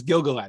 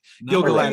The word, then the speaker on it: Gil-galad: It's Gil-galad who he changes his mind about, which I'm also very interested to see. He's my number 2, by the way. Gil-galad is my number 2.